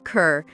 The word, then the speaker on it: Kerr: Deborah Kerr, whose last name pronunciation, she insisted, rhymes with star, illuminated the big screen with a rare talent.